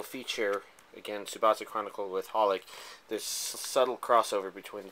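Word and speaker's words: xxxHolic: the movie um the XXX holic oh wait it's just pronounced holic the holic subasa chronicle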